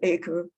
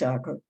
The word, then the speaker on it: Acre: The relevant place names, Acre, which is spelled acre, like an acre, but it's Acre, Edessa, Antioch, etc.